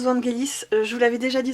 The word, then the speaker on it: Vangelis: des parfums de 2020, je le prononce comme le compositeur grec du même nom, parce que pour moi Vangelis se prononce ainsi, c'est le nom d'un... En grec en fait ça se prononce ainsi, donc voilà, je prononce pas la française, j'ai peut-être tort, auquel cas j'en suis désolée.